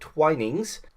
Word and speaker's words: Twinings: I keep always pronouncing it as Twinnings instead, but it's actually called Twinings.